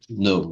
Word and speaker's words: know: No, ó, no. Não fala o K, certo?